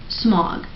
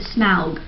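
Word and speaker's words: Smaug: just kept it but he didn't say smog he said smow like what is a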